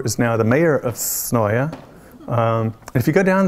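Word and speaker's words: Senoia: me a tour is now the mayor of Sonoya. And if you go down there, you can tell who's local, who's not, by the way they pronounce Sonoya. I'm not from there, so I say Sonoya.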